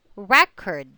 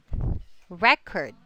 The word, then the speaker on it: record: All right, so just like another thing, it's record, record.